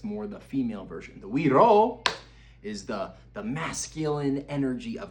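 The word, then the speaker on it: güiro: This week, one of our instruments that we went over is the Guiro, G-U-I-R-O, Guiro. Said you pronounce like we row instead of you row a boat. We row a boat, but Guiro.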